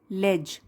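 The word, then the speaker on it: ledge: alone on अ ले यहां पर डी साइलेंट है लेज यंग युवा छोटा सीगल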